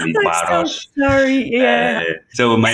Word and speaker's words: Barros: My contact, let's say, is Jose Barros, which is Jose with a more Anglo-Saxon pronunciation.